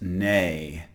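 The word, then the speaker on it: née: entry in crossword puzzles it's pronounced nay um as in uh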